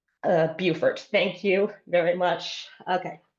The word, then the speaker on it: Beaufort: So Ruth is correcting my pronunciation. Beaufort.